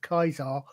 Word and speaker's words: Caesar: I've got a suspicion though that even said that the first time I actually realized that Caesar was pronounced Kaisar was the first time I played Fallout New Vegas.